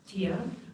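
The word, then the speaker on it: Thia: My name is Tia. I know it's spelled T-H-I-A, but you don't pronounce the H in Gaelic Irish.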